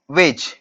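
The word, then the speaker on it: Waage: ये जो लॉ है बच्चों, दो साइंटिस्ट ने दिया था, गुल्डबर्ग एंड वेज, गुल्डबर्ग एंड वेज, okay okay, गुल्डबर्ग एंड वेज, वेज नाम के दो साइंटिस्ट, अब स्पेलिंग पे मत जाओ प्लीज।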